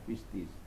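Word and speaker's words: πίστις: Kata dari kata pistois, bacanya pistis. Omikron ketemu dengan iota, maka dibaca menjadi i, jadi pistis.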